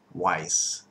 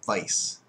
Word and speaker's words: Weiss: that that was pronounced Weiss but this is not the correct way of saying uh what you're uh looking at there it is supposed to be pronounced like Vice like adal Vice uh